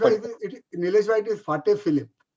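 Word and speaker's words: Patek Philippe: मैं शायद इसकी प्रोनाउंसिएशन सही नहीं कर रहा हूं, बट एक फिलिप पटेक करके वॉच कंपनी है।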